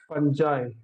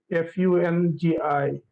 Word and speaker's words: fungi: is fungi okay and there could be three pronunciation for the uh for this term f-u-n-g-i so this can be well first pronunciation can be enjoy second can be fungi third could be fungi okay um as you